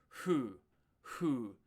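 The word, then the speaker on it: ふ: Uh it's going to be more like a soft fu and not a not a you're not hitting that F. So fu fu I like to joke around as like Who are you? Who who who who Uh you can kind of hopefully you can hear that that's different than who and it's very different than fu.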